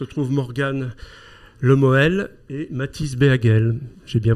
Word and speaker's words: Béhagel: Donc à mes côtés se trouve Morgane Lemoel et Mathis Béhagel. J'ai bien prononcé ? Béhagel.